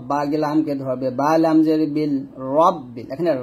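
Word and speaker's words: رب: ধরবে, বালাম জের বিল, রব্বিল, এখানে রাব্বিল বলা যাবে না, রব্বিল বলবেন।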